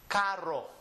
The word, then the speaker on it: carro: But if you're not able to roll your R, just drag it and say carro, carro.